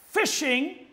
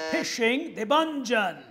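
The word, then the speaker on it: phishing: is the concept of fishing spelled with a p and a h not f p h i some pronounce it as fishing yes devangel but it's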